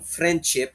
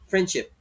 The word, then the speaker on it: friendship: For example, instead of saying friendship, friend, may D, di ba? You're just going to say friendship, friendship, friendship. Nilaglag mo yung D.